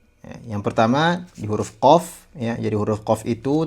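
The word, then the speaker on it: ق: Ee jadi qof itu agak ke belakang sedikit. Qo kaf ke ke depan. Ka, qo ka.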